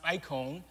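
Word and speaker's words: εἰκών: scripture In this passage image here pronounced icon uh is a likeness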